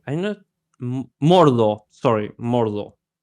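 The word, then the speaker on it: Mordhau: Morho. Morho. It's like Cavarry H. I know. Mordo. Sorry. Mordo. How do you spell it?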